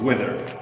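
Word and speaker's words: whether: If equals this word, weather. Weather. It's not weather about hot or cold weather. No. It's another weather. Same pronunciation.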